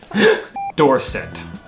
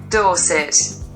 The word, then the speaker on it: Dorset: Dorset. Dorset. Sometimes she pronounces the E like an A, and other times it's like an I. Mm-hmm. But she never pronounces it like an E.